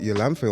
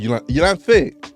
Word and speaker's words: Yolanthe: We've got Yolanthe on the podcast.